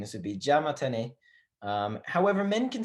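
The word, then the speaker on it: じゃまたね: If we put those together, we are going to not pronounce this ya sound, right? So it's going to be ja mata. And then optional, you can say ne. So ja mata or ja mata ne, right?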